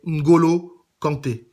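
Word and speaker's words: N'Golo Kanté: joueurs d'origine africaine donc n'hésitez pas à bien prononcer leur nom donc je le répète c'est Ngolo Kanté c'est peut-être un détail pour vous mais pour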